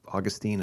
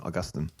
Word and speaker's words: Augustine: Maybe there's another way to do it like Augustine and Augustine.